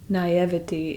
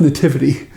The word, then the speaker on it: naivety: Naivety is the Naivety? verb of that word. Verb? Naivety isn't a verb. That's like an adverb or something. It's pronounced nativity.